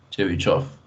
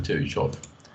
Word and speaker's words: Chebyshev: En realidad esto se pronuncia Chebyshev. Es una mala transliteración. Debería ser Chebyshev.